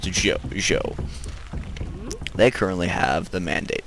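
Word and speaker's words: Zhou: originally I thought I thought that it was pronounced XU but my Chinese friends have corrected me and said that it was actually pronounced Z they currently have the Mandate of Heaven which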